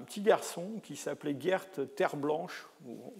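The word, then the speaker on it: Terblanche: C'est un petit garçon qui s'appelait Gert Terre Blanche. Vous noterez la consonance Terre Blanche, ça s'écrit T-E-R-B-L-A-N-C-H-E, mais je pense que c'est à l'origine un nom français, Terre Blanche.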